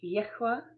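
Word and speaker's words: YHWH: I use Yhwa and that is the pronunciation that was given to me in a supernatural experience and um and it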